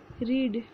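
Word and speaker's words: read: रीड मतलब पढ़ना, रेड रेड। Spelling same है, बस प्रोनंसिएशन डिफरेंस है।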